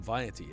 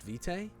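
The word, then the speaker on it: vitae: lignum vety is also would that not be pronounced Vite is that how you pronounce that vety lignum vety I've never heard that pronunciation before he pronounced it wrong yeah I thought it was V the narrator sometimes mispronounces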